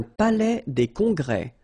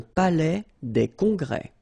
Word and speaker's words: palais des congrès: Un palais des congrès. Final S here and here are not pronounced. Un palais des congrès.